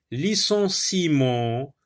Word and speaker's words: licenciement: Balbutiement, licenciement, remerciement. Donc le E ne se prononce pas.